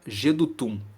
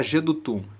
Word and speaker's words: Jedutum: está escrito assim ao mestre de canto para jedutum Salmo de Davi Então esse título nos fala